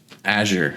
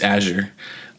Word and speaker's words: Azure: 20th and uh so Azure C for the record but even still is that how you say it I thought it was aour yeah it's Azure oh the the art for